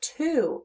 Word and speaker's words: two: When we hear the sound in the word, we're hearing ooh, but it's spelled with the letter O.